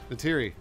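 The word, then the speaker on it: Neytiri: Natiri. Yes, Russ. Can you make him feel... Wait. That's how it's pronounced in Avatar.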